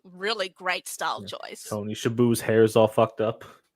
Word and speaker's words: Shalhoub: Tony Shalhoub's hair is all fucked up. Yeah. Tony Shalhoub. Like I can't pronounce his name to save my life. Shalhoub.